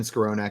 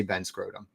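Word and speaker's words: Skowronek: He said, yes, it is Ben Skronik. And he said, you say it like scrotum, and that's not right.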